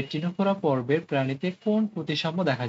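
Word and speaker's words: Ctenophora: আর টি থেকে হচ্ছে টিনোফোরা, যদিও সামনে সি আছে কিন্তু উচ্চারণ তো আমরা সিটাকে উচ্চ রাখি, টিনোফোরা।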